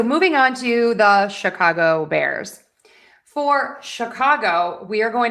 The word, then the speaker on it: Bears: And then Bears is one syllable, so that gets the stress. Bears, Bears. We're going to use that air sound there. We're not going to say ear, it's air.